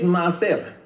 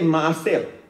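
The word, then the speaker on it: מעשר: All right, means maaser. Say maaser. You see how the British accent, you know? Maaser is spelled, by the way, the Hebrew is read from right to left.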